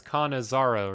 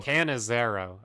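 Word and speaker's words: Canizaro: us beautiful beautiful and your name is kanazaro right because that's how I was pronouncing it uh Ken is Arrow canizero okay okay well now I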